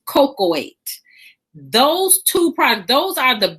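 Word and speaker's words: cocoate: cocoa 8 now I used to call it coca tea and I was like in my dyslexic obviously I was but it's pronounced cocoa 8 those two prongs are the biggest killers in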